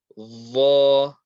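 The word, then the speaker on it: ظ: Dha, dha, dha. This is the same makhraj as the letter dhal, but again, only difference is this is a heavy letter, so we will apply lots of pressure on the makhraj.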